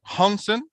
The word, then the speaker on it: Hanssen: Um pronounce the name. I know that. Hansen. Hansen?